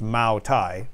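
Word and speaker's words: Moutai: spelled like yeah it's I guess it is ma Thai it's meant to be pronounced ma Thai but using a different uh spelling uh than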